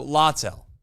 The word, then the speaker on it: Littell: Lytle? Do we know? Littell. Okay, of course. It's always something. So Littell.